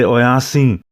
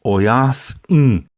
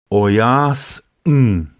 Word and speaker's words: Oyas'in: Remember to make that pause between the S and the I.